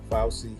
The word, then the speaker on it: Fauci: I know his name is pronounced Fauci.